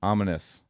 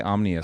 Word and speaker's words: Ominous: just kind of getting along back on the story, but how did you meet up with like I keep saying it wrong. Ominous. I would say omnious every time.